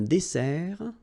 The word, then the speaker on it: dessert: Final T not pronounced.